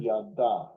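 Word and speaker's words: ידה: Here's the pronunciation. Yada.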